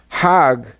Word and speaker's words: Hajj: around in circles now Hajj is a pilgrimage hog is the Egyptian pronunciation hug in Hebrew means